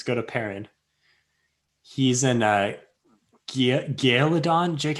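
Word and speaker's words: Gealdan: He's in Gaeladon. Jake, how do you say it? Gaeladon? Michael yeah. Kramer say Giladon. Yeah. He says Giladon, but it's not spelled that way.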